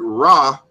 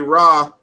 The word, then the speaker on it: Ra: So when you say Ra, it's 3 consonants that you have to pronounce historically.